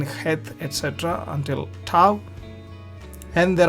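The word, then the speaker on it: חית: Het, in Scotland there are lakes called Loch Lomond. They have Loch. So Bach, Loch. So that sound is Het.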